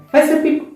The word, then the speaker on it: Pacific: See, the letter C, we are reading in three different sounds. P C C I C then F I C fic. Ocean, shian. See, the same letter C in the two words, we have to read it three sounds.